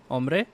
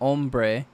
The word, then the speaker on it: ombre: Ombre. It's not ombre. Like you wouldn't say the the R. You wouldn't give it the hard R.